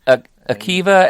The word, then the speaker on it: Akiva: Akiva and Jorma, yeah.